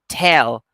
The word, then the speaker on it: tell: usually mispronounce it but the right pronunciation is with aspiration tell don't say tell say